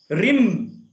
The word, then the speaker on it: HRIM: তো যদি ভুল করি, রিম, ওদিকে রিম হয় রফলা, দেখেন হয় রফলা দিয়ে দীর্ঘীয় অনস্বর ম বা অনুষ্কার, যে কোনো একটি আপনাদের উচ্চারণের মধ্যে। রিং না হিরিং স্যার? রিং রিং রিং নয়, রিম, রিম।